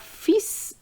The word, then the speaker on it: fils: Leur fils et leur fille. So you have to remember to pronounce the S after fil, okay, because we are talking about the son.